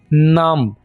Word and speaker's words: numb: My fingers are dead, यहाँ पर एक और वर्ड भी है नम, NUMB, बी को हम साइलेंट रखेंगे, नम।